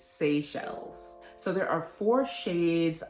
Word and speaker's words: Seychelles: and i would not have known how to pronounce it it's seychelles so there are four shades of this cream